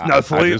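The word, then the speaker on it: Nestlé: Oh no, it's Nestle.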